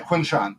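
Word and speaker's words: Quinshon: Yeah, Quinshawn.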